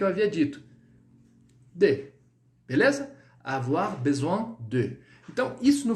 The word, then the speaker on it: avoir: O e do I, você vai colocar isso com som de UA. UA, tá? Então, literalmente, no português, som de UA, da letra U e da letra A, tá? Então, avoir, avoir. E o R bem, não precisa colocar muito avoir, muito forte. É bem sutil.